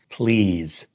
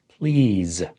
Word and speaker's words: please: Notice how the S is pronounced as a Z. Please. Please.